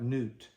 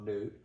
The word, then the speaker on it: Nut: goddess her name is it's spelled like nut but it's probably pronounced more like newt and newt is in